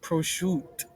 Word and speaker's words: prosciutto: Pascal, it's pronounced prosciutto.